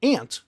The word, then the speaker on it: aunt: Okay, how would you pronounce aunt? To sound like ant, the word.